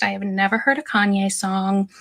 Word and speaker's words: Kanye: I have never heard a Kanye song. I used to pronounce his name Kane because I'm a little dyslexic and that's how I read it.